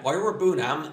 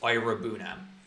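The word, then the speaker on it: Iroegbunam: That is how you say it now, because he made his appearance for Villa against Man United over the Boxing Day. So, I know how to say it. I watched it live on Amazon, so I've heard the commentators. So, it's Ira Bunam.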